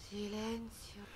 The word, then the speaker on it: Silencio: commence ici voilà sileno le mot Silencio est prononcé sileno alors moi ce qui